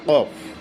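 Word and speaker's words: ك: প্রথমে আসতেছে আমাদের কফ। কফ এখানে মোটা হবে। আর তার উপরে যেটা আছে কাফ। কাফের ব্যাপারটা খুব সিম্পল। এটা স্বাভাবিকভাবেই হয়ে যায়।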